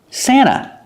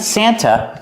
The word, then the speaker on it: Santa: Santa. Not Santa, but Santa Claus. We have NT in the middle of vowels, so we don't really hear the T. Santa, we say Santa.